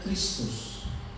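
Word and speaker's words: Χριστός: yang terbentuk Hai Cici itu christos dibacanya Kristus hai lalu buruknya ambulans ada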